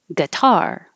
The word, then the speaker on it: guitar: any of them guitar the gu is not stressed so it can sound like ga or ge i put them both here to show you gu and but the the the vowel duration is very short so you shouldn't even be able to tell